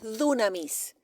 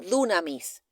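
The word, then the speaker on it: δύναμις: palabra no es poder es dunamis se escribe así como suena dunamis cuando si usted lee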